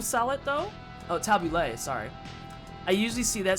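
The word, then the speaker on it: tabbouleh: the hookup from burst of hope very nice tabula salad though oh tabulay sorry i usually see that serve with euro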